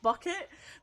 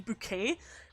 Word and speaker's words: Bucket: um but she's called she's called higher bucket but she insistently pronounce her name bouquet and she's like the